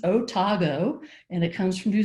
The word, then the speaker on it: Otago: people often think it's an acronym no it's pronounced otago and it comes from new zealand because the